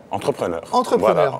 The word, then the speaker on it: entrepreneur: dit entrepreneur en tunisien, ça se dit entrepreneur. Entrepreneur. Voilà. On peut rouler le R. On peut rouler le R. Entrepreneur. Et ça fait tunisien.